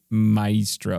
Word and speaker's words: maestro: things maybe you okay you keep saying my Maestro like it's a three syllable word I don't mro I feel like it it is probably just Maestro I I feel like people say it differently it's one of those words that depending on who you are you might say it with three syllables you're at least you're